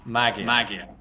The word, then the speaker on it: Magia: Magia? Magia, Okay. genau. Okay. Yeah, so some people, especially in English speaking countries, pronounce it magia, but magia.